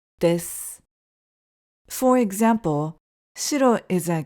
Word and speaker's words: です: Please note that it sounds more natural to pronounce it as "des" instead of "desu" because the "u" at the end is often dropped.